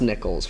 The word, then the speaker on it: Nichols: It's pronounced Nichols, right? Yes. Okay. I mean, I Nichols.